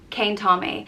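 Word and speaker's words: cén t-am é: it next up is kane tommy and it means what time is it and it's pronounced kane tom a cane tommy and this is one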